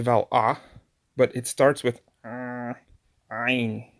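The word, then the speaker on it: עין: So for example, if I pronounce it like I just did, Ayin, there's just of the vowel yin, Ayin. But in reality, Ayin is a consonant that can hold a vowel.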